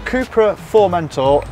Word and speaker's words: Cupra Formentor: who's just literally part right so jamie the cooper for mentor firstly am i saying it correctly is that